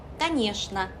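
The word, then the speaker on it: конечно: 당연하다 라는 의미의 단어인데 여기도 최 발음을 슈로 읽어서 까니여시나 까니여시나 라고 발음해 주시면 돼요.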